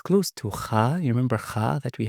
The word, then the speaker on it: kha: While ghain, no, there's vibration come from the throat. And also, ghain is more like softer, you know? Kha is more strong. Okay? Kha is more when you pronounce, like when you clean your mouth, you know? When you clean your mouth in the morning, you make kha, right? While for ghain, it's more like vibrated.